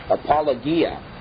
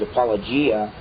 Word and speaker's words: apologia: Now, the word there for defense is apologia in the Greek. I've heard it pronounced a lot of times apologia. But from what little I know of Greek, I believe it's supposed to be pronounced apologia, and we get our word apologetics from it.